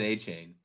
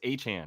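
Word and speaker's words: Achane: and running that kid aaine how do you pronounce it Brad aain the kid no achan or a is a CH no de a chain no no because it's not chain anymore it's achan that's what it is aan he he said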